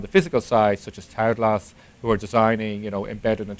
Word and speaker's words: Taoglas: And Tau is, I suppose, the Chinese way, and glass is the Irish for green.